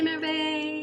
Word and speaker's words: Merve: I guess her name starts with M-E-R, spelled as M-E-R-V-E, Merve, or most of Americans pronounce as Merv.